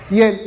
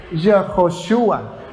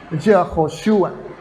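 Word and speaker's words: יְהוֹשֻׁעַ: Y el Shva es un símbolo gramatical que indica que se pronuncia Y, o sea, Yehoshua. Yehoshua. No Ye, sino Yehoshua.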